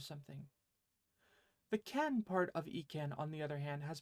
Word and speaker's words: 意: when you consider it the E from ekin on its own has only one possible pronunciation it's onomi or Chinese reading which is of course e this conji conveys the